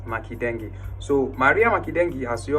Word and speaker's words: Makendenge: Now uh her name is Maria Makeni not Maria Maken like I pronounced I pronounced the last time it's not maden it's Makeni.